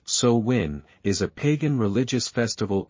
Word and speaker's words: Samhain: sa a gelic word pronounced sowin is a pagan religious Festival originating from an